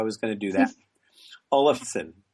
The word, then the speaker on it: Olafsen: Today's guest is Ashley Olverson. And I mispronounced it and I knew I was going to do that. Olison. Olison.